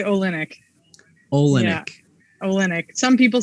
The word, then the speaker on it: Olinyk: you say your last name uh i say olynyk olin yeah olynyk some people say olinick uh yeah it's olynyk to me it's ukrainian